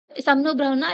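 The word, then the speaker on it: शं नो वरुणः: समनो भ्रणा इसको प्रोनाउंस किया जाता है।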